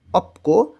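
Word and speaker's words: 없고: আনিও না সিজাঙ্গুন বাজার অপক নাই এবং দেখেন অপশ ত ধ্বনির বাচ্চমের পরে গ থাকলে গ টাকে ক এর মতন উচ্চারণ করতে হয় এখানে হবে অপকো মানে নাই এবং তার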